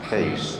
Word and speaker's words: Kees: Kees is pronounced Kees in Dutch, so we call our dogs Keeshounds.